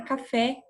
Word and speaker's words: café: Então, na palavra café, é essa última aqui, ó, tá? O F e o E. Porque quando eu pronuncio, eu dou ênfase. Café, certo?